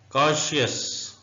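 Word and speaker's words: conscious: का नाम है साइंस कॉन्शियस सी साइलेंट है उर्दू में कॉन्शियस ऐसे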